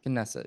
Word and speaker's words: Knesset: of the kidney set or the set I pronounce that correctly yeah knesset yeah they said they may ignore what they